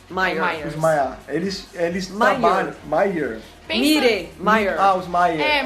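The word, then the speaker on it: Mire: Meyer. Meyer. Os Meyer. Mas pensa que a pronúncia é quase os Maias.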